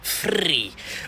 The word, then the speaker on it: Free: Ici Free, ça se prononce free.